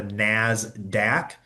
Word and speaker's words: NASDAQ: This is known as the NASDAQ uh is how it's p uh pronounced.